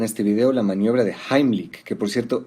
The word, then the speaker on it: Heimlich: Vamos a ver en este video la maniobra de Heimlich, que por cierto, esa es la pronunciación correcta porque está en alemán. La mayoría dice heich, pero bueno, se entiende de qué se trata.